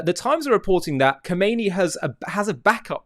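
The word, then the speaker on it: Khamenei: And it's now being reported by the times of of the UK that Kamani come as the the Persians pronounce um is making plans to flee to Moscow if the uh unrest in Iran intensifies.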